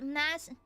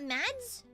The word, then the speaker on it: Mads: I can't believe it's pronounced Mass. It's Mass? Mass? It's not Mads? It's Mass?